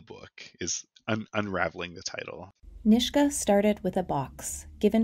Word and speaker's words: Nishga: n-i-s-g-a apostrophe a and the book's title is n-i-s-h-g-a um with a pronunciation uh nishka and and the one